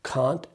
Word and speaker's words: can't: easy right second thing you कैन pronounce कांट as well as कैंट आप इसको कांट भी पढ़ सकते हैं और कैंट भी पढ़